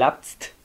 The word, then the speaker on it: lapse: están pasado el aps se escribe el up set pero se pronuncia el apps como con un arte al final y buena vez el